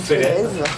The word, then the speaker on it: Félez: Je suis toujours Félez, mais ça se prononce Félez, sinon ça fait con.